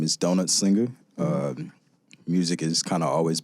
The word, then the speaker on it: DonutxSlinger: DonutxSlinger. Am I doing it good? Oh, yeah. Perfect. Yes. I don't know why, but I've just been like butchering. No, a lot of people also pronounce the X.